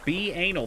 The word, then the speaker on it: banal: it's somehow a slight at catg Girls It's pronounced be anal that's what I said yeah make me look